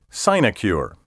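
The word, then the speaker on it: sinecure: final 10 keywords in level 8 word 41 sign acure si n e CU r e a position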